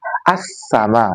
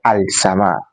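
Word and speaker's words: السماء: It will say as-sama. You don't say al-sama.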